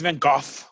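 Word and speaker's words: Van Gogh: they say it's Vince Van goof with a with a soft H at the end but that's the Dutch pronunciation he was he was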